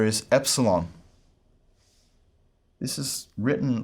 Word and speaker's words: epsilon: Both pronunciation systems treat this much the same way. It's an E sound, as in met, E, met.